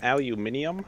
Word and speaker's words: aluminium: Ah, Raptor, it's pronounced aluminium.